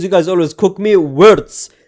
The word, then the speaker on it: Wirtz: Wirtz. His name is Wirtz. You guys have taught me that. It's not Ritz. I always call him Ritz, but it's Wirtz, right?